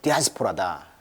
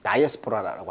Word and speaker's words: diaspora: 이것을 이제 뭐 디아스포라다. 또는 다이아스포라라고 하죠. 영어식 발음은 이제 다이아스포라라고 하죠.